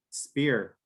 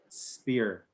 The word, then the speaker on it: spear: right so stop right but then you have other words like for example um spear spear where you don't have an aspirated p sphere all right it's all like lanza spear p there is very is very uh different and it's more like the spanish p and so like look